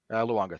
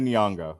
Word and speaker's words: Nyong'o: I can never pronounce her last name properly. Luongo, thank you. One of the few times you can know how to pronounce the last name and I don't. But Lupita Nyong'o.